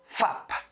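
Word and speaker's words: 밥: आदि प भनेपछि अब यसको उच्चारण के हुनु पुग्यो त फा अनि आदि प फाप के अरे फाप है फाप के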